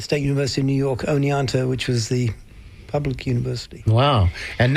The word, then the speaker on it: Oneonta: research last night because when you look at it it doesn't sound like it's spelled like it sounds. So, I watched a couple of YouTube clips and I I realized it was Oneonta.